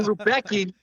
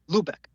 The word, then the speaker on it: Luebcke: So, as you mentioned, Rubei because that's what it looks like, but we pronounce it Lubec.